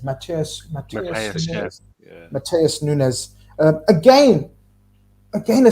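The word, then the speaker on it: Matheus Nunes: Mateus Nunez.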